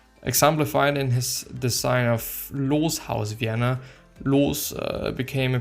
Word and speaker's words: Loos: German pronunciation, Adolf Loos. Or Loss, actually. No, it's Loos. Loos.